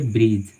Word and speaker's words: bridge: D silent letter होती है, मतलब डी का उच्चारण बिल्कुल नहीं होता है। ठीक है, जैसे मानिए ब्रीज, BRIDGE।